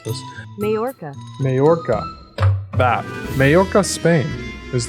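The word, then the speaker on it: Mallorca: the realistic bunch is moaka I need to pronounce this mayorca mayorca that mayorca Spain is the next one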